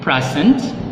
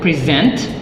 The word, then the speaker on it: present: are stressed differently so when you use the first syllable stress that is basically a noun form but if you use the second syllable stress that is considered a verb let's take for example